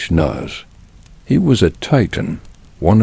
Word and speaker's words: Kronos: Say it like Kronos.